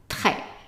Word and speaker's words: très: If the E here with an accent is pronounced as an A, how do you pronounce this? Très, très. And remember, when I underline a letter, that means that it is not pronounced. And in general, the S is not pronounced at the end of words. So probably 95% or more of words that have an S, the S is not pronounced. So it's just très, très.